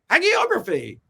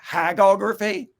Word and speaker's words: hagiography: Well, how do you say it? Hagography? No, that's about hags. For years I thought it was hagiography. I thought it was maybe like it hagiography. Is. But there's a hard G in it.